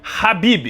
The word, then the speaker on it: Khabib: E sim, o nome se pronuncia Rabibi.